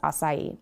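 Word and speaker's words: açaí: It's acai.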